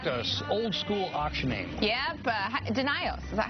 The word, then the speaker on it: Denio's: Yep, Denio's. Is that how you pronounce it? Denio's.